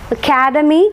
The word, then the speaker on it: academy: to the next word Academy Academy stresses marked on the second one C and academic on